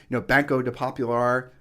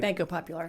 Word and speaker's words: Banco Popular: So if you're banking through Wells Fargo or Bank of America, or we're down here in Puerto Rico, Banco de Popular. Did I say it right? Banco Popular.